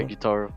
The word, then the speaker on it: Gyutaro: And that's when Gyutaro, I always say his name wrong. What is it, Gyutaro? Yeah, Gyutaro.